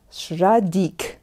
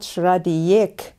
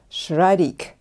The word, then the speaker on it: Schradieck: german which that name is from it is pronounced sradik and not shraddhiyak as i oftentimes hear from my students no it's shraddick henry schradik okay we all know the exercises